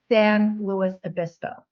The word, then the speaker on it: San Luis Obispo: way to pron pronounce it's like LS and Clark Sam Lewis abiso so that's our first